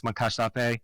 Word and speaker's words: Moncacht-Apé: I think it might be something close to Moncacht-Apé, but maybe the T a little less, Moncacht-Apé.